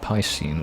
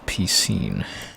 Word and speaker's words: Piscine: that and now that people say pie scene like I said and according to this it's piscine you see and I've been avoiding